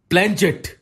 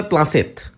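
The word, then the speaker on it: planchette: কেবলা এসে পড়েছে বললে উহু ভুল হলো ওর উচ্চারণ হবে প্লাসেত থাম থাম বেশি ওস্তাদী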